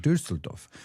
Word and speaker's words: Düsseldorf: Dusseldoff. How do you pronounce it in German? Dusseldoff. Dusseldoff.